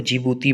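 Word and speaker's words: Djibouti: लेख स्थल इन जिबूती इसमें डी साइलेंट है इसको जिबूती बढ़ते हैं जिस तरह से एशिया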